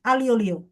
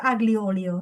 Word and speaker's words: aglio olio: Tapi bacanya sebenarnya gini guys, alio olio gitu. Alio olio. Bacanya alio olio gitu. Alio olio. Heeh. Tapi beberapa masih ada yang baca aglio olio. Tapi kalau pakai cara baca Itali itu alio olio gitu.